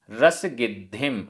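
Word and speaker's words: रसगिद्धिं: रसगिद्धिम, आधा द ध, रसगिद्धिम, रसगिद्धिम।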